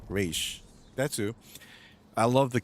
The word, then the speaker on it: Ra's: Yesterday, I took a deep dive into Ra's al Ghul, apparently pronounced Raish.